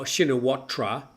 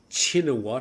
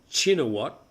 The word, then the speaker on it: Shinawatra: I thought we pronounced it Oh, shinatra. That's how it's spelled. But I hear chinat. I usually say now chinat. Apparently the shh sound is not correct. It should be a ch sound.